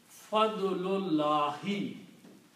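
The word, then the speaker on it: فضل الله: So the pronunciation of these two words together will be Fadlullahi, grace of Allah. Okay? And that is the word here in the Quran, Fadlullahi.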